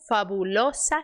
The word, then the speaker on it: fabulosa: L hein lobia su Fabulosa cena vamos de novo ISO esse o aqui não é fabulosa Fabulosa Então esse o Você fecha e esse s é s não é Z Fabulosa